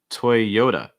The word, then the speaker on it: Toyota: next one toy yoda stressing that second syllable the yo toyota notice that that t takes on a fast d sound so it's not it's usually more duh toy yoda toy yoda also note that y sound the strong ya toya